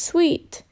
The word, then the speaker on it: suite: patterns of bananas sweet sweet is a French word pronounced sweet that means series of